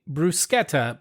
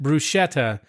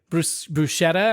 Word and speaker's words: bruschetta: right but interestingly enough when an Italian word has a CH that's actually pronounced like a k that's right so hard so C so one of my pet peeves when you say bruschetta but you pronounce it